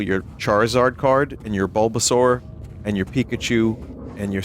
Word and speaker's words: Bulbasaur: Now, is it Bulbasaur or Bulbasour? Like sauerkraut? like soar, like dinosaur.